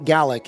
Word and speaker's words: Gaelic: had come to Canada so he was a galic speaking GAC is how it's actually pronounced GIC speaking um Scottish guy and he would travel